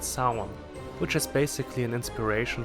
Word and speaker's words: Samhain: Sammy, which is short for Samhain, which is pronounced Samhain, which is basically an inspiration for Halloween.